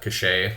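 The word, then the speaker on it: Cachay: have that right now Susan uh cachet I think is how you say your last name uh she's we've done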